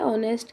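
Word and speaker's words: honest: दिया इस फादर मां अब यहां पर भी साइलेंट है ऑनेस्ट के अंदर और जो दूसरा लेटर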